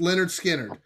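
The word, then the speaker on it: Lynyrd Skynyrd: 20 picks for the first two albums uh pronounced leonard skinner i'm not a huge uh southern rock fan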